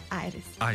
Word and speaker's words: Airis: Dus eigenlijk iris is eigenlijk ontstaan van een iris. Een bloem, een iris. En dan daar een A voor gezet. En dan zo aan het Engelsachtig uitgesproken, iris.